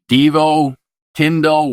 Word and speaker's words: Deevo Tindal: DVO Tindle, welcome to your intended message.